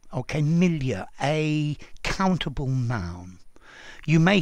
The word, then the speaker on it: milieu: But for me, with an RP accent, you need to use the French pronunciation because this word comes directly from French.